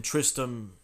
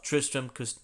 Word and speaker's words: Tristram: Witness the dark rebirth in Tristram. I'm thinking it's Tristram. I think the other T is silent.